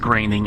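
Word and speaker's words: Groening: It's pronounced graining, I believe, by the way.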